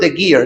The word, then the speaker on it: Geer: Geer.